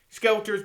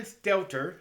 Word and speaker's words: Stelter: saying you know what we're done you know skelter's been fired uh and i mean actually i mean delter i need to try to say his name right but i always call him skelter but brian stelter has been fired and john harwood another guy